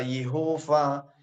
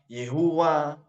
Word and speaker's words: Yahweh: itu Yahweh dan itupun pelafalan tentang Yahweh itu tidak ada yang berani dulu menyatakan atau melafalkan nama Yahweh itu ada yang berkata yehufa Yehuwa dan banyak pelafalan yang lain tentang itu sehingga orang-orang